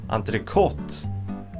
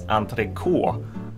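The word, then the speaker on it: entrecôte: Okay, this is a word that a lot of Swedes actually pronounce entrecote. And the reason to this is probably because in French there's a lot of letters that aren't necessarily pronounced. There's a lot of that's never pronounced.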